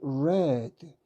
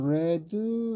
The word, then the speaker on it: read: 그런데 여기에 과거로 됐을 때는 조심해야 돼요 이렇게 발음합니다 read red 과거분사도 레드르 발음이에요 그러면 동사 5년부터 과거분석한 읽어보면 reade red red 이렇게 되는 거죠 그러면은 요거는 있다라는 뜻이